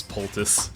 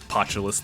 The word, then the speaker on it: poultice: I didn't know how to pronounce poultice. I said potulus the whole time.